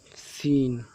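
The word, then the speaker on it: scene: देखिए, सीन सीन में एस के बाद सी आया है तो डायरेक्ट पढ़ा गया, ये सी को छोड़ दिया गया है क्योंकि ये साइलेंट है, डायरेक्ट सीन पढ़ा गया है।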